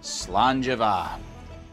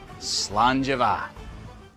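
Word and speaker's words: Slàinte mhath: Today's phrase is Slangeva, means good health. Toast with me. Slangeva.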